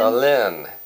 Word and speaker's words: Alin: Alin. That's how you pronounce it? Alin, yeah. Well, in the South it would be Ellen, wouldn't it? It's Alin. You and Chef Touch.